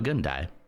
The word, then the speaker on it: Gundai: I'm a Gundai. That is how you say that name. It sounds a lot like I'm gonna die, and then he does.